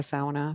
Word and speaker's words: sauna: By the way, that's the proper way to say it if you're Finnish. You say every letter in the word.